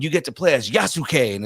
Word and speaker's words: Yasuke: get to play as yasu and it's like no no no Yas the the U is silent bro it's like Asuka you know like y it's not yasuke it's Yas Yas yeah